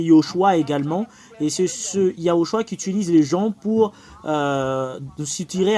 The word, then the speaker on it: Yahoshua: également et c'est ce yahoshua quiutilise les gens pour Stirer un nom Yoshua c'est vraiment différent de yahoshua c'est pas pareil yahoshua et Yehoshua Yehoshua c'est Josué et